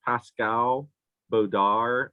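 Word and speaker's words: Pascal Baudar: him his name is pascal bodar i think it's kind of pronounced but it's spelled his last name is b-a-u-d-a-r and these actually would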